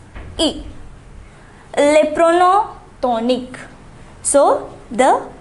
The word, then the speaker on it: y: So to indicate a place, we use the pronoun y. It's pronounced e.